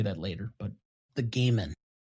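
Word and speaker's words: Goddard: This is the correct pronunciation. The gaan just so you in case you have to say that later, but the gaan correct.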